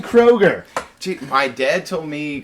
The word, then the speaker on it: Kroeger: I keep saying Kroeger.